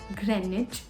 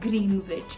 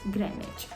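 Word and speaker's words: Greenwich: but River THS and the best one is Grenich and not green witch looking at it you'll obviously pronounce it as green witch but it's Grenich and the last one is Bingham Palace and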